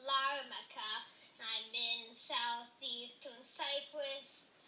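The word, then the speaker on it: Larnaca: strong muscle said my name is pronounced larmacha I'm in South Eastern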